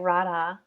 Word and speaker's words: Radha: Is it Radha or Radha? Yeah, you're saying it right. Radha.